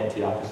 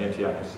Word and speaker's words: Antiochus: I've heard it pronounced Antiochus different ways. I call it Antiochus Epiphanes.